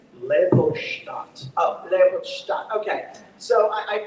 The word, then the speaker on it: Leopoldstadt: Is it Leopoldstadt? It's Leopoldstadt. Oh, Leopoldstadt. Okay. So I feel like You can mispronounce this.